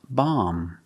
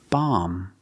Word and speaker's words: bomb: the end is silent when you see MB the B at the end is always silent silent so the word is pronounced bomb bomb end with the m